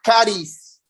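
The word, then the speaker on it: χάρις: Del idioma griego, la palabra gracia se escribe charis, pero se pronuncia caris.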